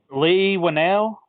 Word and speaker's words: Leigh Whannell: Anyways, so Leigh Whannell, is that how you pronounce his name?